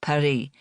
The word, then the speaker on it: Paris: Yes, she pronounced the city's name in the French way. Perry.